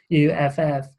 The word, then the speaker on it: Acuff: There's an author called John Acuff, I think he pronounces his surname Acuff, and the book was called Finish.